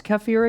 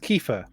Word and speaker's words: kefir: What's kefir again? Isn't that like a yogurty thing? Oh no, it's not. It's different. And it's pronounced kefir, isn't it? Kefir. Okay. Like Kiefer Sutherland, fermented milk.